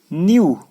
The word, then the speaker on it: knew: न्यू, KNEW, न्यू silent नहीं, NEW, न्यू पढ़ना है सीधा, के साइलेंट है ना, के पढ़ना नहीं है।